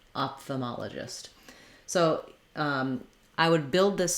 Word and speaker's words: ophthalmologist: So far in the top pronunciation we have off the, and then this letter O again says our ah sound, ma, off the ma. Then this letter O goes back to being a schwa sound, sounds like l. And finally letter G says the j or J sound, gist, ophthalmologist.